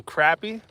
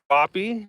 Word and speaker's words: crappie: in the Poconos for some crappy or cppy depending how you say it where you're at but same fish and